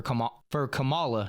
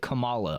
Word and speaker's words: Kamala: and they're trying to win an election for Kamala Harris. I got to say it right. The way that they taught us how to say it, Kamala.